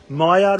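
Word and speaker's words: Maillard: sear is really important because it gets that myard reaction I said it right again you did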